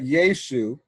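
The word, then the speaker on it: Ἰησοῦ: En Theo Patri Emon Kai Kyrio Iesu Christo. Now I'm pronouncing that Iesu because this is what I learned in the university in Greek classes. Classically, that's how they're pronounced.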